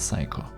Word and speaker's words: PSYQo: For my PS1 projects, I use SDK called PSYQo or (pronounced as) "Psycho".